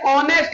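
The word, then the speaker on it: honest: Clear बेटा ये ऑनेस्ट लिखा है। इसमें एच साइलेंट है। तो क्या बेटा?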